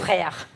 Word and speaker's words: Frère: corazón acá que decía, lo voy a pronunciar como se dice en argentino, Freres. ¿Cómo es en francés? Frère. Frère.